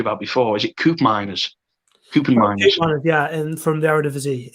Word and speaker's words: Koopmeiners: Koopmeiners, yeah, and from the Eredivisie.